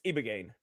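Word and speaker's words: ibogaine: It's ibagane.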